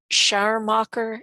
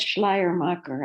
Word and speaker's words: Schleiermacher: produced uh oh um scharmacher and others sorry if i butchered that i should have said schleiermacher i forgot to put the lnbl i'm sorry oh liar